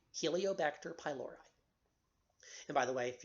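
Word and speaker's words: Helicobacter pylori: called Helio vector pylori Helio vector h h e li ba SI te r that's the genus name pylori species named py l Ori Helio bacter pylori and by the way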